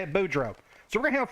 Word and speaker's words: Boudreaux: That's how you say it, Boudreaux.